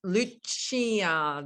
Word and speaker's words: Lucia: not now hi everybody my name's Lucia this is how it's pronounced everyone struggles with that name so think of Santa Lucia anyway my company is